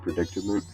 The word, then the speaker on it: predicament: I always have a very hard time pronouncing that word, predicament, because I always pronounce like an extra D.